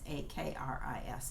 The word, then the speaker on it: Akris: I'm sometimes some of these names are a little difficult to pronounce, but it's Akris, I believe, and they're doing like